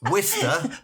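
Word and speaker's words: Worcester: Wister bath bath.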